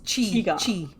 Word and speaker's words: Qi: I think you pronounce it Qigong. It's Qi. That's how you would Oh, pronounce Chi.